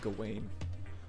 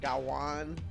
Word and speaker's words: Gawain: think I've heard it gawaine I've heard it well the old English is it's like gawan or something like that